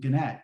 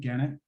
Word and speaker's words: Gannett: i never heard of gannett i was actually mispronouncing i was calling janet uh embarrassingly enough um i